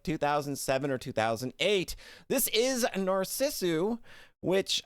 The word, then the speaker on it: Narcissu: it in like 2007 or 2008 this is narcissu which i' had been pronouncing as narisu uh because the Katakana for this game is